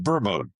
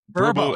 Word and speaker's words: Vurbo: Vurbo. Vurbo.